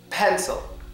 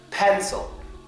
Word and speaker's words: pencil: there pencil well yes thew sound is on the I because I'm saying pencil you can hear me loud and clearly pronounce the e but when I pronounce the I it's barely there pencil pencil what is